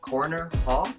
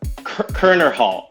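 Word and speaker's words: Koerner Hall: brown i don't know i always pronounce this wrong corner paul is that he's kerner hall corner hall it's spelled weird it's true so you've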